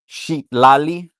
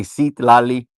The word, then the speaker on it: Citlali: Well, it's an X, so it's pronounced Sheetlali. Some people say Citlali. It's all good.